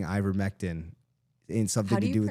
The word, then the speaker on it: Ivermectin: So I remember him saying ivermectin in something to do with. How do you pronounce it? Ivermectin.